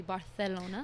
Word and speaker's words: Barcelona: And then the soft C, like in Barcelona, would be Barcelona.